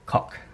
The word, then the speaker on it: kok: It's also colloquially known as the cock. That's spelled K-O-K, so it's nothing rude about it.